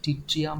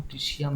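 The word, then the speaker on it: tritium: আর এটার নাম হচ্ছে টিট্রিয়াম ট্রিসিয়াম যা প্রোনাউন্সিয়েশন করবে ট্রাইটিয়ামও বলা হয় আমাকে যদি পরীক্ষায় একটা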